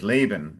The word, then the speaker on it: Laban: Okay, very good pronunciation of of of the of the brother's name in English, Laban, instead of uh the Portuguese.